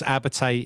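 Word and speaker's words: Abertay: I can't pronounce it. Abbate. Yeah, I thought it said Albatross. Yeah, he did. It was Abbate.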